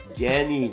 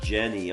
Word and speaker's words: Genny: Genny, not Jenny. Okay, Genny with the G, but it's pronounced like a hard G. Genny.